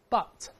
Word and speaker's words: butt: 我们大声来读一下，but，跟表示但是那个词啊发音是一样的。